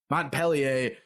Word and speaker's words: Montpellier: How do you pronounce it? Montpellier.